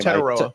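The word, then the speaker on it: Tetairoa: Tetaroa.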